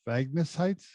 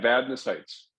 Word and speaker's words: Vadnais Heights: He's in, I don't know how to pronounce this, Vagnus Heights? It's, Vadnais Heights.